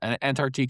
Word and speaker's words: Antarctique: It's the Antarctique. And again, Antarctique is the one that you're probably going to know the most.